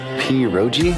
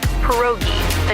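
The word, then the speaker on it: pierogi: Peroi. Did I pronounce that right? It's pronounced perogi. A tasty dish like dumplings.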